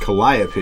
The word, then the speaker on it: Calliope: Rose Walker or Calliope? I believe it's pronounced Calliope.